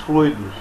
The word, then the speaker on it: fluido: Muitos espíritas, notadamente aqueles espíritas mais velhos, aqueles espíritas mais conservadores, falam fluidos, mas não é, a pronúncia correta é fluido.